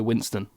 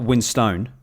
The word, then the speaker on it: Winstone: I say Ray Winston. Ray Winston, isn't it? So it's not Winstone, even though it's got the E at the end. Don't know. Winston. I think it is Ray Winstone.